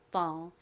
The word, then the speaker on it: fall: 실제 원어 발음으로는이 F가 피읍보다는 거의 쌍비에 가까운 좀 센 소리가 나죠. 거의 프 이렇게 세게 소리가 납니다. 자, 거기에 AL의 All 소리를 더하면 fall이라고 발음되죠. fall 발음 연습 같이 해 볼까요?